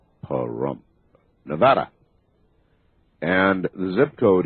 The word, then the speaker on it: Pahrump: Not to laugh, as I spell it, that's P as in Paul, A-H-R-U-M-P, Pahrump, Nevada.